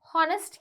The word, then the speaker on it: honest: Honest kiyanne pa, right? H is silent.